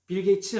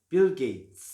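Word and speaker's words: Bill Gates: 빌 게이츠 하면 안 된다는 거 아시죠? 치읓 발음 아니고 TS 발음 어떻게 한다고요? 우리 지난번 배웠죠? 멈춤 쌍시읒 빌 게이츠.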